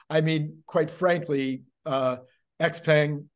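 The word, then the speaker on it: Xpeng: mean quite frankly uh x-pang or ship hang I guess if you pronounce it correctly uh Lee and and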